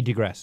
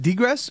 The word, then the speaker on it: digress: You know, we digress as usual. Is it degress or digress? Digress, but I was using the Latin pronunciation. You're digressing. I was using the Latin pronunciation of the I.